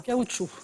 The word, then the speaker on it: caoutchouc: débutant par un C dont le C final de se prononce pas caoutchouc qui est le mot